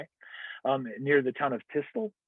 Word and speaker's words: Thy: It's spelled like the English word die, Thy, near the town of Tistel.